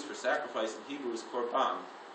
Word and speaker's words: korban: sacrifice in Hebrew is korban. And a korban, sometimes pronounced korban, it sounds like carbon sometimes.